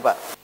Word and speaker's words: Pew: Itu hasil penelitian dari lembaga namanya Pew Research Center. Tulisannya PEW tapi dibacanya P.